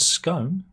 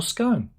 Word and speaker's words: scone: the he says uh in British English the word scone right is generally pronounced wrong with the with the word gone or on with a long o sound huh whereas in American English the word is is often pronounced to rhyme with cone so it's gone or scone depending on what side of the pond you're on I'm losing the world